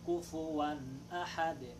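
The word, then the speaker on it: كُفُوًا أَحَد: Dito rin sa may kufuwan ahad, ang kailangan nating bigkasin ng maayos yung wag nating kainin ang mga letra. Kasi minsan maririnig natin walam yakul lahu kufuwan ahad. Kufuwan ahad. So nawawala yung vowel ng fa.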